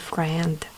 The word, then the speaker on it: friend: Буква А у нас пишется, но не читается. Читается только вот эта буковка.